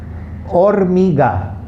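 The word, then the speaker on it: hormiga: okay so ola aura okay like o-r-a is pronounced boy's name or mega or mega is an ant liver yellow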